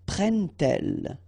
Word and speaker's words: prennent-elles: d to make the liaison, but you will pronounce it like t. And so you will get prend-il, okay? But then here, prennent-elles, okay?